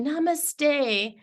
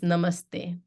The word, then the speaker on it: Namaste: it right right so the big breathy Namaste is not right it's Namaste sorry I'm borderline offensive I